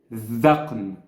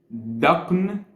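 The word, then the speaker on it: ذقن: The very original pronunciation is dhaqn. With this Arabic letter, dhal. Sort of like th in that or that. The same pronunciation. However, my Egyptian accent simplifies it twice. Once it becomes daqn instead of dhaqn.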